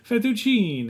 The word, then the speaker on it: fettuccine: Cold Fettuccine.